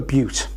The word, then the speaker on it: butte: formation is called a butte, and it's spelt B-U-T-T-E, and it comes from the French word meaning small hill. The pronunciation is quite often mixed up with B-U-T-T, which is quite a different thing, particularly in the States,